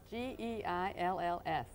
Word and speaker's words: Geills: It's G-E-I-L-L-S. And how do you pronounce it? It's called Geills, and it's Gaelic, so you should know about that, Jack.